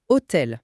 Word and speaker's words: hôtel: Et il insiste sur le H toujours mué. Il donne l'exemple de hôtel prononcé hôtel.